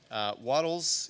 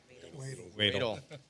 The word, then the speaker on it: Wadle: Item 5G, a quote from Waddles Heating and Air for split, sorry, did I say it wrong? Wadle. Sorry. Not Waddles. I apologize.